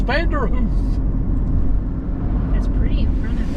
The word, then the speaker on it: Vanderhoof: Yeah, I don't know how to pronounce where we're at. There it is. Vanderhoof. It is Vanderhoof.